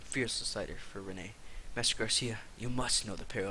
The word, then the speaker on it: Garcia: you the great Garcia or is it Garcia it's Garcia because there's no Accent on the eye you fought for Rene